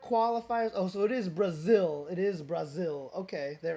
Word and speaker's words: Brazil: Okay, so it is going to be Brazil. I'm not going to say Brasil because that is the incorrect way to pronounce it.